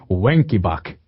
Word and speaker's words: Wenckebach: From henceforth, if you want to pronounce one as Wen, why not? Because this brings us to Wenckebach.